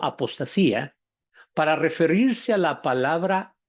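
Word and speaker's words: ἀποστασία: Tenemos, para recordar un poco, en el griego eh, habíamos dicho que se decía apotatía, pronunciado apostasía, para referirse a la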